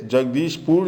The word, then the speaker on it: Jagdishpur: This is the place, Jagdishpur is the place where Naropa was born. Taranath mispronounced it as Jambu.